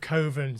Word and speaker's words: Coven: You've got to say Coven otherwise it would rhyme with oven.